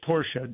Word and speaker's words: Porsche: Black Friday is it Porsche or Porsche I know you had a controversy yesterday Porsche or Porsche oh it's Porsche Dr Ferdinand Porsche was a two- syllable name please Dr F I